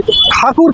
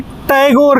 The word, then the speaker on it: ठाकुर: ये एक ब्राह्मण फैमिली से आते थे, बहुत ही अमीर फैमिली थी, ठाकुर कहलाते थे। ब्रिटिश अंग्रेज इनका नाम नहीं बोल पाते थे तो मिस प्रोनाउंस करके उन्हें टैगोर कहने लगे और उन्हीं वक्त से इनका टैगोर नाम पड़ गया।